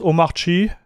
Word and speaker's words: Omarchy: When I hear DHH pronounce omachi, he doesn't pronounce the R completely and stretch the A.